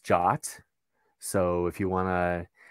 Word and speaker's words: JWT: It's actually pronounced JOT.